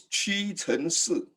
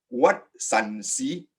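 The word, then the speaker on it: 屈臣氏: Now, if you pronounce it in Mandarin, it's Qi Chen Si. What's the relationship between the two? Absolutely far apart. You know, Watson's and Qi Chen Si doesn't make sense. But if you know Cantonese, this is a wonderful transliteration because in Cantonese it's pronounced as Wat San Si.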